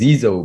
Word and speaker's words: Zizo: Actually, so the way you pronounce it is Zizo, but when I first met Buddy, he just changed it to Zizo, and he's refused to go back since.